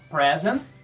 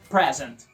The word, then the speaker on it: present: na primeira sílaba presente I have a present for you grow exemplo com o verbo apresentar digamos ela vai apresentar sua dissertação na sexta-feira she will present dissertation On Fire o verbo apresentar sílaba tônica é a segunda present x present perfect